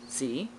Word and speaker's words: ze: So for myself, instead of he, she, I like Z, Z-E, that's how it's spelled.